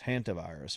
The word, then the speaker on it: hantavirus: Some people, I guess the real pronunciation is hantavirus, but so it's out there and it's floating around, and then here come the conspiracy nuts.